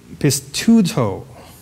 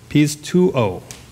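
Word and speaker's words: πιστεύω: And it is pistuto. No, sorry. Pistuo.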